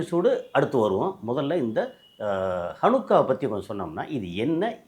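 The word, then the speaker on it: חנוכה: வந்து கொண்டாடுவாங்க இது வந்து ஹனுக்கான்னு சொல்லி ஷனுக்கா ஹனுக்கா ஹனுகா சில உச்சரிப்பு வந்து சனுகா அப்படிபாங்க ஹனுக்கா அப்படிங்கறது ஒரு எட்டு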